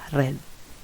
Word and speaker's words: read: Nah, khusus untuk read di sini penulisannya sama cuma hanya saja cara membacanya akan sedikit berbeda. Verb 1 dibaca read, verb 2 dibaca red.